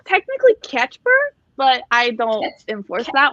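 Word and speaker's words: Kacper: It's technically Catchper. Catchper. Yeah. So most people just call him Casper, and that's fine. That's okay.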